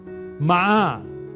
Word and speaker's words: مع: مع، میم کے اوپر فتحہ، عین کے اوپر فتحہ، مع.